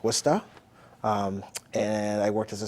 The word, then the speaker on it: Worcester: I worked in Worcester, pronounced Worcester.